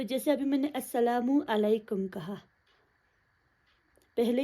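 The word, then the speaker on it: السلام عليكم: डाला, right, single page, ना कि अस्सलामुन अलैकुम मैंने नहीं बोला, अस्सलामु अलैकुम बोला।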